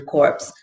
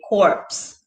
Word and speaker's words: corpse: talking about dead bodies we say corpse and we pronounce the p but we're talking about